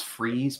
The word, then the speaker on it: Fries: Yeah, I was just about to say, like, I know it's freeze, but it's spelled like fries.